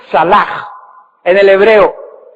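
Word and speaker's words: צלח: Jehová lo hacía salach, T-S-A-L-A-C-H, se escribe salach, T-S-A-L-A-C-H, se pronuncia salach en el hebreo.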